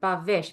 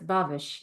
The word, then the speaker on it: Bhavish: I went Bhavesh, but it's Bhavish.